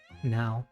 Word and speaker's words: Nao: It's also going to be a little bit difficult to kind of differentiate between when I say now as in like current or now as in NAO for her name.